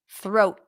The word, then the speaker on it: throat: into the sound throw throat it's also shorter when it ends with a T the vowel is shorter throw throat I'm going